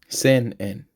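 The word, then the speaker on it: 千円: And at least when you write it, you put the N sound in the middle for sen. Sometimes when they pronounce it, it sounds kind of just like say by itself, but you do want that N in there.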